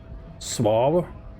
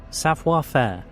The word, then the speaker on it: savoir-faire: Suave? Sauve? Is that how you pronounce it? Savoir-faire.